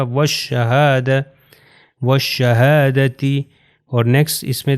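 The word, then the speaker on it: والشهادة: next example ہے والشہادہ، آپ یہ دیکھیے الف اور لام، یہ لام یہاں نہیں پڑھا جائے گا، یہ شین سے مل جائے گا، واو جو ہے ہو جائے گا والشہادہ، والشہادتی، اور نیکسٹ اس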